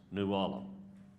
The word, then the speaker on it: New Ulm: Where my great-grandfather built a home that's on the historic register there, it's called New Ulm. Or in Texas, the three letters turn into two syllables, New Ulm.